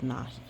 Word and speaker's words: Nakhi: um and it does say that they're called Nahi is how you say it but yeah it's